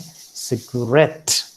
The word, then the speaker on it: cigarette: It can also fall upon the last syllable, as you find here in guarantee and cigarette.